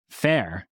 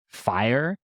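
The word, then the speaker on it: faiyr: we were like oh Fair that's cool but the problem is that people pronounce it like fire and that was a real problem I must say but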